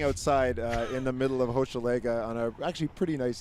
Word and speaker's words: Hochelaga: in the middle of Hochelaga on a actually pretty nice evening right now at the Block Shop Hochelaga opening. Am I pronouncing that right? Hochelaga. Okay, just drop the H.